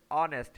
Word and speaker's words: honest: लेकिन हम इसे हॉनेस्ट नहीं पढ़ते, ये क्या है लेटर्स हैं। ठीक है, इसके पीछे जो साउंड है वो साउंड और है। साउंड क्या है इसमें ऑनेस्ट है, यानी H साइलेंट है, इसमें कौन सा साउंड